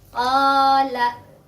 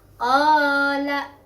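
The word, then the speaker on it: قَالَ: Contoh yang ketiga seperti ini. Qala. Nah, ini juga sama. Madnya udah ada, yaitu alif. Kemudian sebelum alif ada huruf berharokat fathah, yaitu qaf. Jadi sudah memenuhi syarat mad tabi'i. Ini juga dibacanya 2 harokat. Qala gitu.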